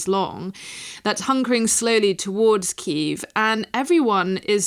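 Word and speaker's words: Kyiv: I mean I'm sure ke as we now should call it using the Ukrainian pronunciation um it doesn't look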